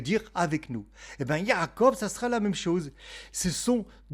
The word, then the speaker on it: יעקב: Et c'est pour ça qu'il s'appelle donc Yaakob, Jacob. Le nom de Yakob en hébreu s'écrit le yode pour ceux qui font de